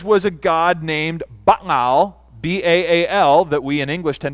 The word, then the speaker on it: Baal: of his kids was a god named Baal, B-A-A-L, that we in English tend to pronounce Baal.